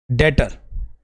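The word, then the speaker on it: debtor: हम क्या बोलते हैं डेटर डेटर बी साइलेंट रहता है बच्चों डेटर बोलते हैं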